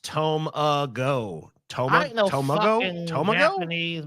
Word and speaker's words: tamago: It's pronounced Tomago.